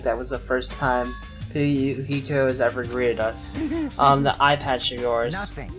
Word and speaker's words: Fuyuhiko: My first name is pronounced Fuyuhiko. Fuyuhiko.